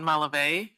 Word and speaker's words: Malave: My name is Malive. is spelled S I O.